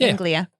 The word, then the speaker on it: Anglia: yeah yeah oh i was saying it right anglia it feels weird to do do you think